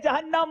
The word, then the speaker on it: جہنم: درست تلفظ کا انتخاب کریں، جہنم یا جہنم؟ جہنم یا جہنم، صحیح تلفظ کیا ہے؟ جہنم۔ آپ نے کہا جہنم، عبداللہ غلطی نہیں کرتے، مگر ان سے بھی غلطی ہو گئی ہے، لفظ ہے جہنم، مقابلہ برابر ہو گیا